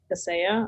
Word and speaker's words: Kaseya: I've heard it called Kaseya. Kaseya. Okay. The emphasis is on the different syllable there.